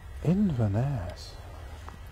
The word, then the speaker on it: Inverness: Inverness is where this one is off to. Apparently that is the correct pronunciation, as I understand it.